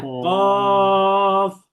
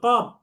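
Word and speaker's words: قاف: অনেকে বলে কপ কপ, কপ না, শেষে প না, শেষে হচ্ছে ফ, তার মানে শেষে ফা উচ্চারণ করতে হবে।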